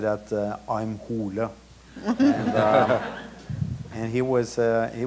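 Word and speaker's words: Hole: it was also uh the name H or hula as it's pronounced in thean that was the uh uh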